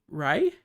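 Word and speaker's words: Rhea: to butcher at name because I think it's just pronounced Ray yeah Ray seon yeah that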